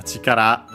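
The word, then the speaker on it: chikara: Uh yeah, we had uh chikar we've seen before uh it means uh power strength accent on the last syllable uh force strength uh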